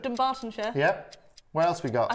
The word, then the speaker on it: Dunbartonshire: Where can't you pronounce? Let's play the Dunbartonshire. Dunbartonshire. Dunbartonshire.